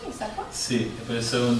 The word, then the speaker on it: Issaquah: ¿Así se pronuncia, Issaquah?